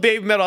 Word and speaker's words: BABYMETAL: You got to pronounce it like they do, so it sounds like you're saying heavy metal.